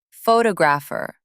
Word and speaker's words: photographer: Photographer. Stress moved to second syllable.